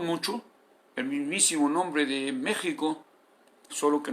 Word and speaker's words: México: el mismísimo nombre de méxico solo que no es méxico con jota es méxico con una h en media que se pronuncia en una forma cultural pero muy leve y que debe escribirse